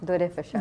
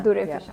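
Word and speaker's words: Dur-e-Fishan: मैंने आपका नाम सही प्रोनाउंस किया है ना? दुरेफशा। दुरेफशा।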